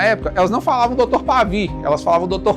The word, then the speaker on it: Pavie: E como o nome dele era um nome difícil para as pessoas pronunciarem na época, elas não falavam Dr. Pavi, elas falavam Dr. Pavo. Hoje eu vou lá no Dr. Pavio para ele me atender.